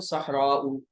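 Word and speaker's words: صحراء: अब ये जब अरबी में प्रॉपर इसकी स्पेलिंग करके पढ़ेंगे तो सहराउ।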